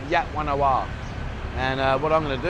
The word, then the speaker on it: Wat Yan Nawa: Even though it's got a V at the end, they actually pronounce it War Wing. So Wat Yan Nawa.